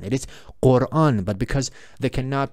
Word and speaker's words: Quran: But actually the name of this book is not Quran. It is Quran. But because they cannot pronounce the B sound in English because they don't have any sound.